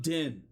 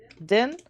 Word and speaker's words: Din: Oh, I'm Din. Din?